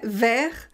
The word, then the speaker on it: vers: léa féminin singulier verts on ne prononce pas le s fait vers vers 19 19 19